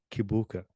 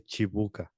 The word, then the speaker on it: Kibuka: So people in America pronounce it Kibuka, but when Okay. I'm in Uganda, they say Chibuka.